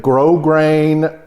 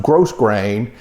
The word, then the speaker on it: grosgrain: It's got a wide grosgrain ribbon. I say in all my videos, it's spelled G-R-O-S-G-R-A-I-N, but it's not pronounced gross grain. It's pronounced grosgrain, and that just means it's a textured ribbon.